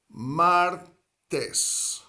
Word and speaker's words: martes: And if you think of the word for ocean in Spanish, mar, martes. Two syllables, martes. Hoy es martes, significa today is Tuesday.